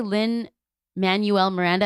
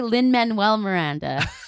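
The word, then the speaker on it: Lin-Manuel Miranda: One, like you used to say Lin Manuel Miranda, and so I started saying it, but it's actually Lin Manuel Miranda. You still say it wrong. Lin Manuel Miranda.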